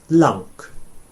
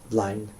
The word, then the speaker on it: lang: I know that's an ow sound, but it's spelt with an A, and historically it was an a sound, lang or lunk, just like in sort of Scottish English or maybe up Geordie way.